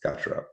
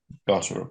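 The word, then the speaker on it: Gotterup: Not very obvious links players albeit that the Gutterup. Is that how it's pronounced? Gutterup. Garup. Yeah. Yeah. Um I thought it might be Go or something knowing American cousins.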